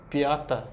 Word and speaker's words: Piata: Que era Piata. Piata. Que significava mesmo por causa de toda a parte ali da água que havia ali. Então, é como era pronunciado, né? Piata.